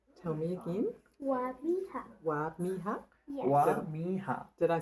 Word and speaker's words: Wamiha: Wamiha. Tell me again. Wamiha.